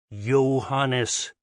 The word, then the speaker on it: Johannes: The butler pronounced the name with an English J incorrectly. Kepler sighed. Think of it as a Y, Johannes.